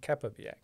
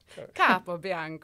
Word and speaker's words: Capobianco: It's Capobianco. Capobianco.